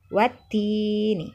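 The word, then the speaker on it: والتين: Alif lam asyamsiyah tidak dibaca meskipun tertulis di sana. Dibacanya wattini ya. Kemudian kata kedua wazaitun juga sama. Asyamsiyah alif lam syamsiyah. Wazaitun, wattini wazaitun. Begitu membacanya ya.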